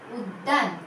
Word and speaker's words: উদ্যান: দুইবার দ আসছে। প্রথম বর্ণগুলোতে কিন্তু হসন্ত থাকছে বাচ্চারা, কয়ের নিচে, দয়ের নিচে, তালবর্ষ নিচে, দয়ের নিচে। অর্থাৎ এখানে আমরা একটু জোরে করে একটু ধাক্কা মেরে কিন্তু শব্দটা উচ্চারণ করব। উদ্যান, বর্ষতা, এইভাবে।